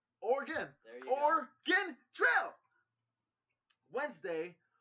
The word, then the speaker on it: Oregon: I said Oregon Trail! You've always pronounced the E, and it's... Oregon.